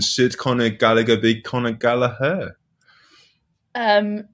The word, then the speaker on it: Gallagher: be conor gallaher um no i'm just gonna go with that i mean i've never heard it pronounced any other way apart from gallagher i mean if he wants to come out and say he wants to pronounce gala then then i'm absolutely 100 behind the boy but um i i'm pretty sure that name is gallagher oh yeah a bit